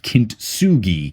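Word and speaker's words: kintsugi: I Googled it and it's called Kintugi. K I N T S U G I. I mispronounced it or I just couldn't hear what the person 15 rows back was saying.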